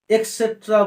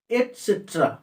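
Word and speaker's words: et cetera: এই শব্দটির উচ্চারণ আমরা সাধারণত এক্সেট্রা বলি, কিন্তু এর প্রকৃত উচ্চারণ এক্সেট্রা নয়, নট এক, ইট ইজ এট, এট, এটসেট্রা, এটসেট্রা, নট এক্সেট্রা, এটসেট্রা।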